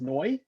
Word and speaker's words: neu: in german um but with the phonetic sounds it sounds like new which was again very